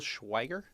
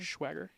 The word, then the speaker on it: Schweiger: It's Till Schweiger, I think is how you say his name. Schweiger? Yeah, Schweiger.